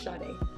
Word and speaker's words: Sade: They can say two syllables, Sade. And I said, it's ever since that day, I've said, my name is Sade.